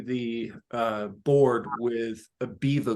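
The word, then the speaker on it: Beva: uh board with a beaver glue which is spelled b-e-v-a um you can get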